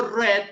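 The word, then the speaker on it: read: es como yo digo red en lugar de ruiz red es la pronunciación del verbo ruiz en pasado listo me pregunta el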